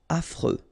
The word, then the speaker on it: affreux: Final X not pronounced. And then you get this freux. Freux. Affreux.